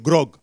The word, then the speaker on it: grog: Parce que ce mot-là, il paraît que je l'ai mal prononcé au premier culte, mais je sais que c'est grog.